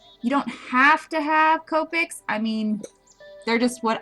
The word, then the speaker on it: Copic: go over a couple things when coloring with copics I get a lot of questions about it and yes the correct pronunciation is Copic goic so I mostly use